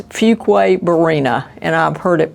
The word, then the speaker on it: Fuquay-Varina: Don't worry about pronouncing it wrong, it's Fuquay-Varina, and I've heard it pronounced every way.